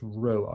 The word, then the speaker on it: rho: p it is not it's pronounced row and we spell it r h o okay this is just